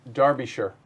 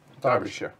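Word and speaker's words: Derbyshire: Um pronounced Darbishure, right? Darbishure. Darby. Darby. Derby. Yes. I I did I did type that up phonetically so I pronounced it right because otherwise I was going to call it Derby.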